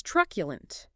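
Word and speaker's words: truculent: Next is tculent. T r u c u l e. T r u c ulent. Three syllables. Stress on the first.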